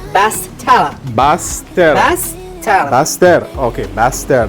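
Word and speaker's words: Basse-Terre: It's pronounced Bastella. Baster.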